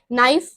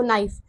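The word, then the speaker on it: knife: silent इसमें क्या है के साइलेंट है देखो नाइफ के को हटाओ देखो नाइफ और नाइफ हो जाता है वो के को हम नहीं यूज करते इसमें सिर्फ ऐसे आता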